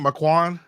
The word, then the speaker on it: Marquand: Marquand. Marquand. That's what I'm. Marquand. I know, right? It's Marquand. Yeah, I mean, Marquand, okay. I think the D is supposed to be kind of silent.